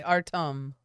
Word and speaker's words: Artem: Artem. There we are, and he spelled it phonetically for me. Artem. Am I saying it correctly?